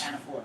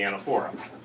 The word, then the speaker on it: anaphora: Anaphora. That's going to be the anaphora, or anaphora, depending upon your pronunciation.